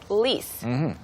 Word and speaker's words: lease: So the next one we'll look at is lease. Lease. lease 이거 발음 주의하셔야 되는데 lease 아니에요. All right. Lease. lease Lease. S 발음이고요.